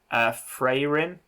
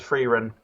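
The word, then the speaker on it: Frieren: So I've downloaded, please correct me when I say this because I'm going to say it wrong, Freyrin. I think I pronounce it as Freerin, but yeah. Freyrin.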